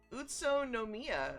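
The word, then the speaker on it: Utsunomiya: behind the curtain totally not Googling something it's utso no Mia I probably butchered that that is correct you have proven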